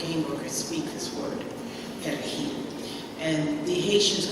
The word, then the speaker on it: perejil: workers speak this word, perejil. And the Haitians could not pronounce the R, so it came out as a perejil.